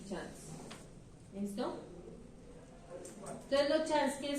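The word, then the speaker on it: Schanz: Rótulas, esas rótulas pueden ser tubo a tubo, o tubo chance, tubo a tubo, tubo chance. Chance se escribe S-C-H-A-N-Z.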